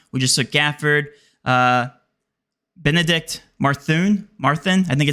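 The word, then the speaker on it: Mathurin: We just took Gafford, Benedict Marthun, I think it's how you pronounce his name. Never had to pronounce his name before. Marthun? Methuen. Yeah, Methuen.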